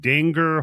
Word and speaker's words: Dinger: in it he played danger whole field his name's dinger what d-i-n-g-e-r pronounce it Danger Corey Feldman's in